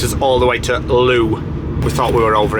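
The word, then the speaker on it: Looe: to walk down the hill to L or Lou I looked up the pronunciation it is Lou uh not L unless you've got to more than one of them so anyway it's called Lou um so like I said we are 19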